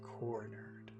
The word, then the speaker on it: cornered: she feels trapped she's cornered she can't escape she was Corner in that first phrase corner is the big word so we focus all of our attention on core because that's the accented syllable she was cornered here's